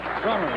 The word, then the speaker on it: Trommer: Trommer, right.